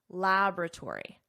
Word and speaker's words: laboratory: Notice the pronunciation here, because there is a difference between American English, which I teach, and British English. In American English, laboratory, laboratory.